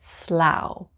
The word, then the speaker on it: Slough: number nine slow slow it's a bit like plow but slough number 10 rice lip